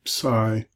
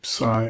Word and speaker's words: psi: Then I do the last four together, phi, chi, psi, omega, phi, ph, chi, or you could do key, chi, like Christos is spelled with this word, psi, the PS sound in psychology, and then omega, omega,